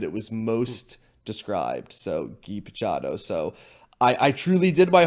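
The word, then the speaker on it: Guy Picciotto: So Guy Pachado is the pronunciation that I saw. Spelled Guy, like the French way, or I went to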